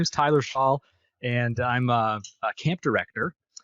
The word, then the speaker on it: Shaule: My last name is Shaule. It is a bit of a different one to pronounce. So thanks for letting me do it. Yeah. So my name is Tyler Shaule, and I'm a camp director and marketing consultant